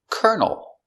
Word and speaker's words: colonel: And this word has the same pronunciation. But this one makes sense. Kernel. A kernel is a countable piece of corn. This is 1 kernel of corn. Same pronunciation for kernel.